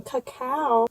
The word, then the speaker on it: cacao: open it up oh look at me pronouncing it wrong cacao it's so dark i